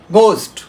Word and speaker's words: ghost: আবার যদি বলি কোরাস, CHORUS, আমরা কিন্তু কোরাস, এইচের উচ্চারণ আমরা আসছে না। গোস্ট, GHOST, গোস্ট।